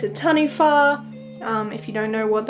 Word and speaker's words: taniwha: It's a taniwha. If you don't know what that is, it's spelled T-A-N-I-W-H-A.